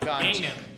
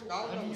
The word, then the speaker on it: Gangnam: It's not Ganjan. Gang. Gang. What is Ganjan? Open Gangnam Style.